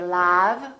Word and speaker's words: love: We don't say love, we say love.